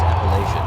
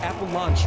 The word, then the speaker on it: Appalachian: the United States, you would still be able to pronounce Appalachian. Yes, you would. You might say Appalachian, right? But uh Appalanche would not be what you said.